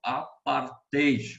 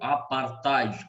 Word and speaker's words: apartheid: O próximo exercício fala ainda a respeito do apartheid, ou apartheid, como alguns comumente pronunciam.